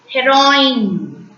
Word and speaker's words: héroïne: When you pronounce E with the trema, it's also pronounced as A. Noël. Noël is nothing but Christmas in French. Noël. Héroïne.